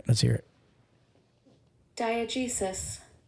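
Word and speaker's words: diegesis: a good one all right let's hear it diag jesis diag Jesus ready diag Jesus um sounds like something in the medical field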